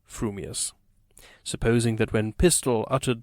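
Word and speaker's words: frumious: your mouth and speak if your thoughts incline ever so little towards fuming you will say fewing furious if they turn by even a hair's breath towards furious you will say furious fuming but if you have the rarest of gifts a perfectly balanced mind you will say frumius supposing that when pistol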